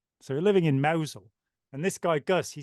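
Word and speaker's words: Mousehole: moved to this Village which is spelled mouse hole and pronounced mosul so we living in Mosel and this guy Gus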